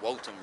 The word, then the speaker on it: votum: Look, from Latin, votum, or what actually in Latin would be pronounced votum, right? They say V's are really pronounced as W's.